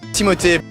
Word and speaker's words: Timothée: His name is French, and technically it's not pronounced the way everyone says it. The real pronunciation is Timothée, Chalamet said in his interview with Frank Ocean.